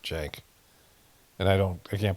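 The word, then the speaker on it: Cenk: is from um is it's spelled C N K but I think they pronounce it Jenk and I don't I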